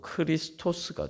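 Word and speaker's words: χρηστός: 그리스도인가 연결이 되냐 하면은 크레스토스라는 말에서이 레 할 때 크레할 때 레에 애를 2로 이제 이때 이때 당시에는 발음하는 경우도 많았습니다 그러면 어떻게 됩니까 크레스토스가 아니고 크리스토스가 되죠 크리스토스는 바로 그리스도란 말이에요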